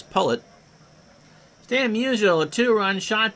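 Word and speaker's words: Pollet: We learned to pronounce that Howie's last name is Pullet.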